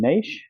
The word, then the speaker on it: niche: himself in a certain Niche or a niche as Americans say but prove himself in